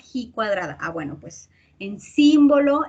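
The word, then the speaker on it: ji cuadrada: cuadrado te acuerdas que dice a veces dice chi cuadrado pero yo les dije se pronuncia he cuadrada ah bueno pues en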